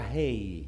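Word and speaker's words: ה: La pronunciación de esa letra es the pronunciation of that letter is una salida del aliento. It's something coming out of breath. No lo pronuncia con la lengua, los dientes o los labios. You don't pronounce it with your tongue, your teeth, or your lips. Simplemente con un aliento que simply sale. With a breath that comes hey! Out.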